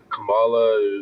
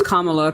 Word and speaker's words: Kamala: want to say that Camala is not going to be that's not how you pronounce her name it's Kamala Kama is a word in the English language and then put a law after it I don't know